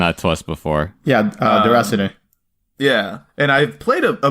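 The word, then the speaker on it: Déraciné: I'm sure I'm pronouncing that. Yeah, no. Ozzy's mentioned that to us before. Yeah, Deracine.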